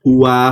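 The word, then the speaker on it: הוא: Di sini ada kata he, pap, alep. Dibacanya hu, bukan hi.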